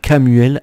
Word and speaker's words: Chamuel: On te dit l'archange Cam, en plus ça se prononce K, tu vois, parce que ça je l'ai appris. Donc l'archange Camuel agit sur le rayon lumineux rose de l'amour.